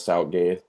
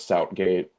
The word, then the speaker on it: Southgate: a bore to watch like especially under Gareth Zoutgate. Gareth Southgate. Southgate. Um, it's nailed those Turkish pronunciations.